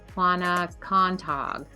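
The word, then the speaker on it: Quonochontaug: Quaney is how us Rhode Islanders pronounce it. It's actually I can never pronounce it. Quanacontog Pond.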